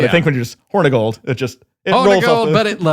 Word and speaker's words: Hornigold: But I think when you're just Hornigold, it rolls off but it's horny gold. It's spelled with an I, but it's still horny gold.